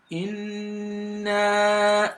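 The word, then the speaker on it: إِنَّا: For you to be able to pronounce the noon mushaddada very well, you've got to assume you're pronouncing one silent noon and another noon with fatha. And so then the noon gets elongated for up to 5 seconds.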